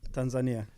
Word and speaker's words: Tanzania: Tanzania.